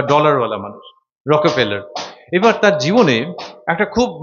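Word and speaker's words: Rockefeller: ঠিক ঠিক উচ্চারণটা হচ্ছে একটা ই আছে মাঝখানে, রকফেলার।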